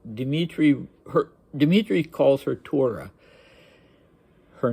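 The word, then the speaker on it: Thyra: her Dimitri calls her Torah her name was spelled t h y r a but he writes it what I assume to be phonetically I assume he heard it as Torah so he wrote it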